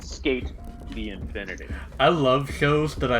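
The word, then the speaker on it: SK∞: The Infinity, or SK Infinity Symbol, but it's pronounced Skate the Infinity.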